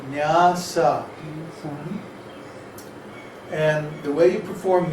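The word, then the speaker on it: nyāsa: After you do your tilak and achaman, then it's called nyasa, N-Y-A-S-A, Oh, I spelled it right. nyasa, with two long A's.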